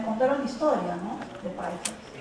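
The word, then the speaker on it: Pallccas: Hace dos semanas estuve en un pueblo que se llama Paijas, P-A-L-L-C-C-A-S, en hecho se pronuncia Paijas, que queda a 3 horas de Chungi, que queda a 10 horas de Huamanga.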